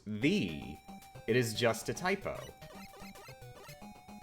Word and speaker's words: ye: Fun fact, the old-time ye, which I'm pronouncing that way for convenience, isn't pronounced how it looks. It's pronounced thee.